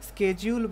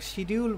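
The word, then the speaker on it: schedule: আপনি যদি স্কেডিউল বলেন আর শিডিউল বলেন, দুইটাই কারেক্ট।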